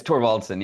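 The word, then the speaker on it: Thorvaldsen: I'm not going to say it right, but yeah, it's Torvaldson. Yeah.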